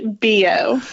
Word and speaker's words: Billeaud: today Navy veteran Billeaud. I'm sure I didn't get that right. Help me out on the French pronunciation of this Louisiana girl. It's Billeaud. Everything's silent. It's very French.